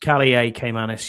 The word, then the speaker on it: Kaliakmanis: Um Kalikmanis or Kaliakmanis, Will says. Kaliakmanis, yeah, that's how you say it.